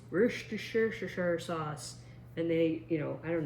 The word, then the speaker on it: Worcestershire: So I always said Worcester sauce because it's that place from Boston with shire and sauce at the end.